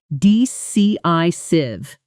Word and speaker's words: decisive: The stress falls on the second syllable of decisive dci civ and on the first syllable of self assured actually lands more on assured selfassurred.